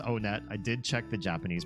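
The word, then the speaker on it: Onett: It is pronounced on net.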